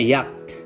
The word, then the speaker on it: yacht: Oke, yacht dibacanya yacht.